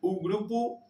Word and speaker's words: grupo: Ellas lideran grupu G interes eh tenemos la o que está solita ahí, se va a pronunciar como una u.